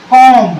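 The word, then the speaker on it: comb: जो उच्चारण होगा यानी इस बी का जो साउंड होगा वो कुछ नहीं होगा साइलेंट रहेगा क्या रहेगा साइलेंट रहेगा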